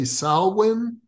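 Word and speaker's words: Samhain: I'm hearing it correctly did you say salwin yes yeah it's spelled uh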